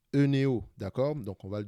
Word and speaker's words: Oeneo: Alors, Oeneo, c'est Eneo, je pense que c'est comme ça que ça se prononce. Eneo, d'accord.